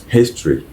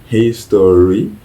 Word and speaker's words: history: ce n'est pas mieux on prononce le H d'accord donc history history